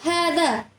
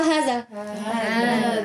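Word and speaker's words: هذا: Kita baca haza apa haza? Hadza kitabun, bukan haza kitabun, ya kan?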